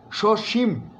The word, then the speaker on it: সসীম: বলছি সসীম, ময়ের মধ্যে একটা ধাক্কা আছে এবং দুটোই তালবস্য।